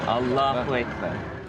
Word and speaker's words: Allah: complications of language infliction is on the second syllable Allah I think we have a wonderful story I